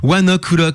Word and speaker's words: ONE OK ROCK: Bref, one OK rock pour ceux qui veulent le prononcer vraiment à la à la francheouillarde. Oneck parce queil y a un jeu de mot si vous voulez le prononcer à vraiment à la japonaise.